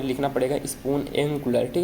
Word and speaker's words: Spoonacular: And simply एक आपको website यहाँ पे लिखना पड़ेगा स्पून एंगुलर, ठीक है। देखो भाई सही होगा प्रोनाउंसिएशन।